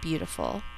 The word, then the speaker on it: beautiful: We think to spell in all four syllables, but in normal speech we only say three.